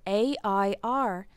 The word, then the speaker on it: heir: was wasted err spelled a IR is the substance of the atmosphere a mixture of oxygen nitrogen and other gaseous elements and air spelled hei are the H is silent is a person when